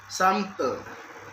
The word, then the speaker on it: sample: in the word sample, it has two syllables, a sample. The stress is placed in the first syllable, sample, and longer word usually have two stress, i.e.